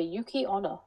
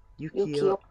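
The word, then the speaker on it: 雪女: woman, which is a Yuki Onna. I don't think you pronounce it like that. Yukiona. Yukiona. No, apparently Ona is woman because all the women one end in Ona.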